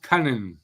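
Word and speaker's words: Kunin: Columbus from San Jose it's pronounced cunan this is why I don't say names no I think it's I think it's luk coonan no it's C because we played them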